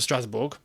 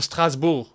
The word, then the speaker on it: Strasbourg: going on loan to Strasbourg, or Strasbourg, as it's actually correctly said. I've seen some French going, don't pronounce the G. It's actually correct. You're not meant to pronounce the G.